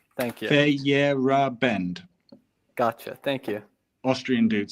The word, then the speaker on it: Feyerabend: And if you're a very philosophical person, then you might want to check out Paul Feyerabend, who's the scientific anarchist who basically came up with the logical proof that science is a pack of lies.